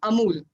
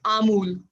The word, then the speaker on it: Amul: So instead of using a chota, we use a. So this is amul. But when people have local accent or mother tongue influence, they call it amul.